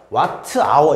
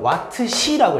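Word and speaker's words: Wh: 그래서 단위 같은 경우도 전력의 단위가 와트였고 시간이 아워다 보니까 와트 아워 이렇게 안 읽고요. 와트 시라고 읽어요. 그래서 전력량은 와트 시, 요게 전력량.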